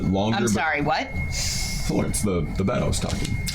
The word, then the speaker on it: Florence: The bat was named Florence. Oh. but it's spelled like Lawrence with an F at the beginning. Like L-A-W or Yeah. L-A-U? L-A-W. Okay.